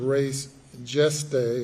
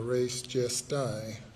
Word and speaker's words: res gestae: under the theory of res geste or res gesti, as some might pronounce it.